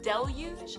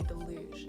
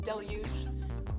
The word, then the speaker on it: Deluge: Now, Jordan's signature yo-yo, the Deluge is how it's pronounced. A lot of people say deluge. It's pronounced deluge, but it's fine, whatever you say.